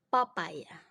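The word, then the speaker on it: papaja: tersebut yang pertama papaya papaya karena J cara bacanya kan y oke yang kedua vuyek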